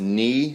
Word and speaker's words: ne: The first one is knee. It's spelled N-E. So you could say knee laughed. So I guess it's like me, but not.